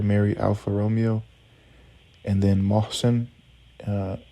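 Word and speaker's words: Mohsen: Omar so my first name is spelled Omar om a r Oscar Mary Alpha Romeo and then Mosen uh m o h s n Mary Oscar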